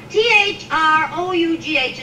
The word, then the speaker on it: through: work was rough when the poet Shakespeare Wow th ro ug H is pronounced through so that's what I always say